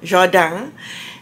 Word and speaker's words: Jardin: Jardin. The French pronunciation this morning.